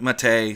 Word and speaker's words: MATE: a drinkable brew called yerba mate a or Matta or something like that which I can't pronounce with the correct colloquialisms the developers of a boon to MIT a call it Matei so therefore I call